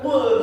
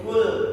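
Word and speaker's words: قل: Kalimat qul di situ qaf. Ya, itu agak dalam makhrajnya. Jangan sampai salah, Pak. Karena nanti kalau misalkan kita bacanya salah secara makhraj, beda maknanya. Misalkan kita baca makhrajnya qaf dengan kaf jadi kul. Itu maknanya bukan katakanlah, tapi makanlah.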